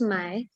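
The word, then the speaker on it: 卖: it means to buy but my in the fourth tone it means to sell the characters are different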